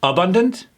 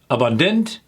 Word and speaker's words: abundant: Is it abundant, abundant, or abundant? Where do your instincts take you? If it's on the second syllable, you're absolutely correct.